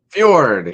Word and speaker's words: fjord: Fjord. Yeah, it's like a yeah instead of a ja.